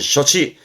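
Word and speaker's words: 処置: 발음은 셔치.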